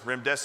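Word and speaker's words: remdesivir: make sure everybody knows Rim dese rhymes with run death is near veery means choose her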